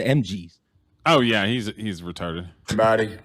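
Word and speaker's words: M.G.'s: It's not Booker T and the MSGs. That sounds like a Korean or a Chinese cover band. It's the MGs.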